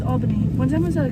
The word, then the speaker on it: Albany: to Albany New York I just pronounced it wrong we get mad people who say Albany it's Albany one time I was